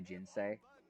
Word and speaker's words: ginseng: monks dealt with the ginsei i'm going to keep saying ginseng because i think that that's the right pronunciation of it is this this is